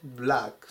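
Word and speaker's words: black: 意味がありますこのあの音も先ほどと一緒であと絵の中間の音ですねえっていう音でブラックていう風に読みましょう 118 番 12 12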